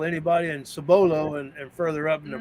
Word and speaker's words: Cibolo: lived in Cibolo Texas I actually pronounce it sabolo when I lived in